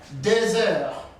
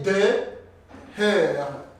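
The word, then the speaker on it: deux heures: Listen how I pronounce this word. 2h. There is what we call liaison. I have connected X and this vowel, because H every time is silent. That is why I say 2h, 2h, 3h, 4h. Because I can say de heure, that will not be good pronunciation. You can say de air. No, that will be broken French.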